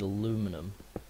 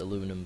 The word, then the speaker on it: aluminum: Me being British, the correct way is aluminium, but I'm going to pronounce it aluminum because I don't know why. I prefer it being called aluminum. Sounds better than aluminium.